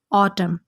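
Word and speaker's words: Autumn: इसे इंग्लिश में कहा जाता है ऑटम। ऑटम के एंड पर आपको एन नज़र आ रहा है, ये एन साइलेंट है, इसको नहीं पढ़ना।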